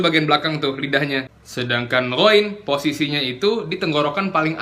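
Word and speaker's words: غ: Kesalahan kedua pada pengucapan ghoin yang berharokat, yang harokatnya fathah dan dhammah, gu, yaitu kan tadi kita udah jelasin ya, kalau ghoin itu makrojnya sama kayak huruf kho.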